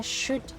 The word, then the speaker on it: should: The L is almost not even said.